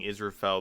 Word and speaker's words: Israphel: for pronouncing Israphel the correct way when he reads the Yeah, sign also.